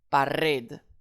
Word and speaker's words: pared: Ici, même logique. Mon mot se termine par une consonne. Ce n'est pas un N. Ce n'est pas un S. Alors, j'accentue sur la dernière syllabe. Pared.